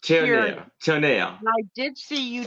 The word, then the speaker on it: Tierney: It's Jean it's pronounced Tierney.